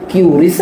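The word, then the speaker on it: QRIS: pakai pakai kita pakainya Quris Kris. Wah, bacanya itu curis gris.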